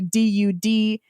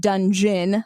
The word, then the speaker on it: Dudgeon: And it is spelled, I should say, Dudgeon. Not dungeon, like, underneath the castle, but Dudgeon. It just sounds weird when you say it.